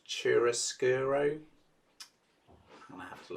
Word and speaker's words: chiaroscuro: is called, I'm never quite sure of the pronunciation, I think it's chiaroscuro.